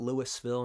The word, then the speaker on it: Louisville: Louisville, say it like you got some marbles up in your jaw. Louisville. Not Louisville, not Louisville. It's Louisville.